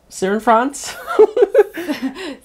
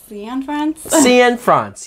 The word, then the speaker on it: Cianfrance: Cianfrance? Cianfrance. Yeah, sure. That's how you say his name.